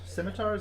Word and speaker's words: scimitars: It's holding 2 scimitars. Scimitars?